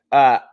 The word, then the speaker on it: Fiske: Yes, the E is Braden silent. Fiske.